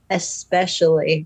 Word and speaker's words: especially: It kills me every time you say especially, because you say it like there's an X in it.